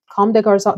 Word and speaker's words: Comme des Garçons: Comme des Garçons, that's the pronunciation we're going with.